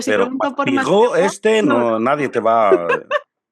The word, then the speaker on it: Maspero: ¿cómo lo pronuncias? Maspero, Maspero. claro. Aquí lo pronunciamos Maspiro. Maspiro.